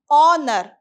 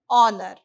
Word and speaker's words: honor: use only and because h is silent h is not pronounced in the word honor though it has a